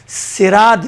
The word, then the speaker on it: صراط: صراط بھی پڑھ سکتی ہیں آپ، صراط بھی صاد کے ساتھ بھی سین کے ساتھ دونوں تلفظ جائز ہے، جبکہ یہاں پر روایات کے مطابق جہاں تک میں نے تحقیق کری ہے اس حساب سے روایات میں سین کے ساتھ زیادہ بہتر ہے صاد سے۔ ہمارے استاد